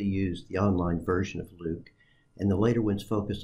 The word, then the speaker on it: LIWC: and word count or Li WC which we pronounced Luke the program was developed